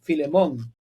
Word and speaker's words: Philemon: I'm going to show it in English because I don't know how his name Philemon.